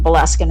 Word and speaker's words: Boleskine: aren't familiar, and just the location for the Boleskine House.